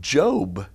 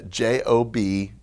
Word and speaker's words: Job: looks just like the word job but they pronounce it job i know look there should be an e on the end or something job but it's uh j-o-b job all right then psalms and it looks